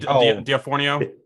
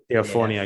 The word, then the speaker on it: D'Onofrio: It's a shame for them, especially if they have to sit there and watch Charlie Cox and I can't pronounce Kingpin's name. Oh, Vincent D'Onofrio. D'Onofrio, yeah.